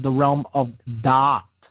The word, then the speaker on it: Da'at: It is positioned in what is called the realm of Da'at. Da'at. Okay? D-A-A-T or D-A-A-T-H. Okay? Depending on how, different schools of Kabbalah spell it.